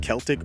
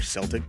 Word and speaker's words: Celtic: Barcelona B is Liverpool C is Celtic or Celtic depending on how you pronounce it and D is